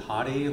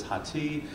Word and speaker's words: Hathi: do you pronounce it is it hottie like uh you know like the Chili Peppers on Rate My Professor and I always have say no it is not it is hati uh it uh comes